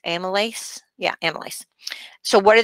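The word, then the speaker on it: amylase: of uh lipas or uh let's see that's pronounced amales yeah Amal so what do they do well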